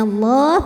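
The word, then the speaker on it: الله: Wala yadhkurunallah, lam pada lafaz Allah dibunyikan secara tafkhim sebab huruf sebelumnya barisnya fathah, maka dibacanya tebal, bunyinya Allah, pangkal lidah naikkan.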